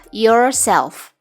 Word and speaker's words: yourself: diri Anda adalah yourself cara membacanya adalah yourself ingat ya huruf r dibaca samar-samar saja yourself adalah kata ganti